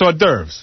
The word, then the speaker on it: hors d'oeuvres: That's hors d'oeuvres.